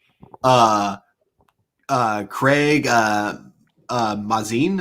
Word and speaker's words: Mazin: uh craig uh uh mazin is that how that's pronounced yeah uh yeah because amazing yeah i'm looking at